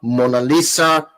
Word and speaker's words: Monalisa: experience from man Lisa monalisa actually she's pronounced monalissa chinda cooka right now